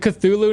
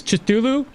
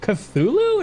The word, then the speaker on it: Cthulhu: Chulu, right? Cuz you you would you would try to pronounce it that way until like one day um I was playing a game that actually said the word out loud and I was like, "What was that? Did it just pronounced that Cthulhu?"